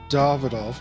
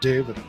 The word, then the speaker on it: Davidoff: It's pronounced Davidoff, not David.